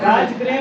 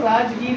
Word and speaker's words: राजगृह: राजगृह भी बोलते हैं इसको, राजगीर भी बोलते हैं, तो दोनों में लिख देता हूँ।